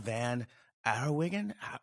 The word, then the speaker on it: Van Den Herrewegen: the kids room podcast today we've got laura van arawigan did i say that right i might have butchered that a little bit yeah yeah yeah